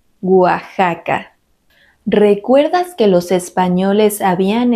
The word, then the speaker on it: Oaxaca: Tuxpan Atlixco Texcoco y algunos topónimos que no siguen esta regla Ya que se pronuncian con el sonido de la J son México Texas Oaxaca recuerdas que los españoles